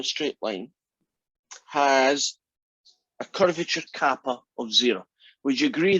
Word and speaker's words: kappa: called kappa t so it's a greek letter that looks like a k but it's actually pronounced kappa but non-americans you'll probably call it caper or something just annoy